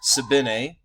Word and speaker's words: Sabine: History Kids, a new video by one of my subscribed channels, Sabine, and yes, that is how you pronounce it, it's because he's Swiss, has done an animated history of Iceland.